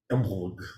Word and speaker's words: Imbolc: Imbolc or Imbolg. Or, yeah, there's a bunch of different ways to say things. I wish Michael was here. Yeah, he I know. pronounces it the best. Imbolg. It's like Imbolg. It's a hard. Imbolg. Imbolc. Imbolg. Imbolg. Like that kind of ish.